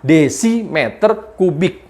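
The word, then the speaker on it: dm³: Jadi dm3 itu simbol tulisan aja. Cara membacanya adalah desimeter kubik.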